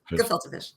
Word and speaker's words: gefilte: It's just a hard G. Gefilte fish.